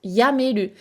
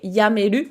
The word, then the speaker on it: やめる: plus meru, et derrière, il faut savoir est-ce qu'il se prononce tomeru ou est-ce qu'il se prononce yameru.